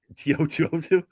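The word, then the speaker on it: To'oto'o: How do you pronounce his name properly? Henry, is it Tiotu? Tiotu.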